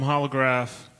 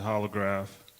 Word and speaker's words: jolograf: Hey, I'm Holograph. I know that's spelled with a J, but you just pronounce it Holograph.